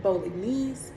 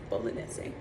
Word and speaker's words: Bolognese: I used to say Bolognese, but the correct Italian pronunciation is Bolognese.